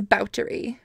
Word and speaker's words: Báthory: did it it is vouchery because she is Hungarian was Hungarian maybe she